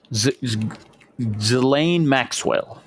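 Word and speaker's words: Ghislaine Maxwell: We all seen how now Trump is is trying to pardon Zelain Maxwell.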